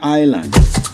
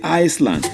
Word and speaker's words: Island: That S is silent. You don't pronounce it. That's why you have Victoria Island, Lagos Island is silent. You don't say. You don't say Iceland.